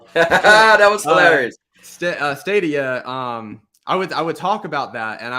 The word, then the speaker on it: Stadia: about St uh am I saying that right stay to you yes you saying it right now you would say a CD it would be the last time ah that was hilarious uh stadia um I would I would talk about that